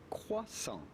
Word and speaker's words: croissant: French do, just say croissant. Croissant. The T at the end of croissant is definitely silent, so do not say croissant, but rather croissant.